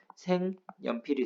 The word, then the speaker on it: 색연필: 받침 있는 조건 성립했고 여가 왔으니까 초성에 니은 들어가서 색 연필이 되는 거예요. 근데 기역과 니은 만났으니까 비음화 또 일어나겠죠? 최종 발음은 생연필이 되는 겁니다.